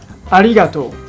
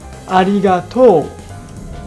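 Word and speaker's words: ありがとう: In standard Japanese, the accent is on re part, so it sounds arigato. On the other hand, the accent is on to part in Kansai dialect, so it sounds arigato. Once again, arigato.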